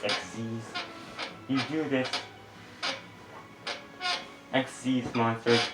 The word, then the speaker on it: XYZ: It's spelled XYZ. They have XYZ written onto their effects. It's pronounced XZs.